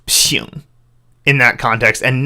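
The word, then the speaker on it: 省: I just saw it, and because of the context of the surrounding text, I knew this must be pronounced xing.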